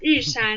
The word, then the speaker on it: Yushan: I might be pronouncing it wrong. It's Yushuan? Yeah, Yushan.